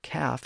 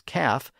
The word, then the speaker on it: calf: pronounced as Cal and he pronounces the word half as half when it should be pronounced as half so again Haler thinks all of the letters in a word should be pronounced even the silent l in calf and half again the L in